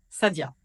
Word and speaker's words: Saïda: Dans la série Magnifiques prénoms arabes, voici le tour des Saïd, Saïda, prononcé Saïd, Sadia.